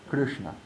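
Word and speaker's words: कृष्ण: Krishna. Krishna. All of those letters that follow, all of the aksharam, are in the cerebral row. So we have a sh, we have a n, and we have a r.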